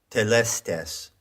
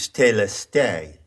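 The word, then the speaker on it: telestai: one of those words is telestes now that is an anglicized pronunciation of the greek word that word is plural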